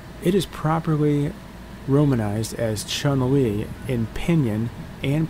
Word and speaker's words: Chun-Li: them we're gonna retreat Chumley's name Chumlee's name is Mandarin for Spring Beauty it is properly romanized as Chun-Li in pinion and pronounced Chun Li despite westerners commonly pronouncing it as Chumley the Japanese on yomi